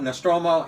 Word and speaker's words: Nostromo: tube yeah basically in space the Nostradamus and pronounced Roma strata Nostromo and and and the submarine yeah yes somebody